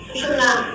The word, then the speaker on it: सुषुम्ना: हैं सुषुम्ना कहते हैं तरह तरह के इसके प्रोनाउंसिएशन है लेकिन सुषुम्ना इसका सही माने में प्रोनाउंसिएशन है जो कि आप अंत में जान सकते हैं।